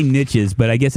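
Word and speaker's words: Nietzsche: whip or cool whip pronounce it as niche niche was a guy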